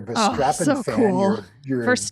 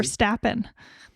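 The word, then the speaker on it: Verstappen: this weekend if you're V strappin fan for stappen I knew how to say that I just said it wrong just to see if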